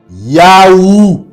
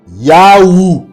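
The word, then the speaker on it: Yahou: Or, le thêtagramme euh Y H W H en bas là se prononce ou se vocalise Yahoo. Yahoo.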